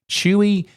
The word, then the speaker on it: Chuwi: I've never heard of chewy mini book X sure yes chewy I think it's supposed to be pronounced chewy who knows but you